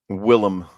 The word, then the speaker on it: Willem: 2 Nosferatu movies that star William Dafoe. Willem.